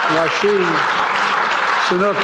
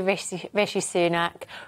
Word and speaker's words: Rishi Sunak: Rashid Sunak is now the Prime Minister. And then I saw his official spokesperson pronounce his name the same way earlier today.